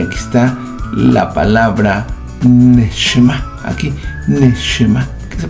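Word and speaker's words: נשמה: Pero aquí están dos cosas, la palabra Nefesh y aquí está la palabra Neshma. Aquí Neshma, que se pronuncia como Nishma Haim.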